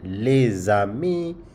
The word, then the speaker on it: les amis: You see, when you link these two, like les and amis, les amis, the friends, where the s is les in les is pronounced because the next word starts with a vowel sound.